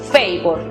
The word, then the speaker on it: favor: La siguiente sílaba, vor, aplica el sonido cerrado, es decir, o, vor. La pronunciación final para la palabra favor entonces es favor.